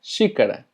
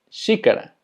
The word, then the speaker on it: xícara: Taza se pronuncia xícara, xícara.